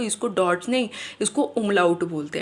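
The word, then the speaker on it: Umlaut: ये डॉट्स नहीं बोलते हम इसको इसको हम उमलाउट बोलते हैं।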